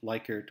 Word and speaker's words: Likert: can see it is a 4-point Likert or Likert scale, depending on your pronunciation, that ranges from definitely agree to definitely disagree.